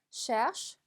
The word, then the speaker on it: cherche: cherche, cherche. ch,가 두 번 들어가서 슈 발음을 내주시면 되겠습니다.